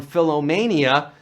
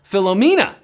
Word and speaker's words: Philomena: of the film that he was suffering from philomania. Well, that's how Leonardo DiCaprio pronounced the phenomenal Philomena at the 71st Golden Globes, and we're down to 24.